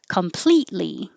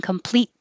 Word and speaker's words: completely: guitar it could happen completely this t is silent the t is completely silent because your tongue is going up for the t and then it stays there without saying completely you just hold it